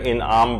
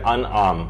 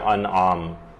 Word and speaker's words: انعام: کر دی جائے، وہ یہ ہے کہ لوگ اسے سورہ انعام پڑھتے ہیں، جبکہ یہ ہے سورہ انعام، یہ زیر کے ساتھ نہیں ہے بلکہ یہ زبر کے ساتھ ہے، تو اس کا صحیح تلفظ ہوگا سورہ انعام۔ اس کی جو کل